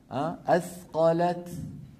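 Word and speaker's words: أثقلت: والد من المخرج ذاته ففي الوصل النطق يكون بدال بدال بدال مشدده لكن لو وقفت على اثقلت اخف كيف بالتاء اثقلت الام الحاله الرابعه من الحالات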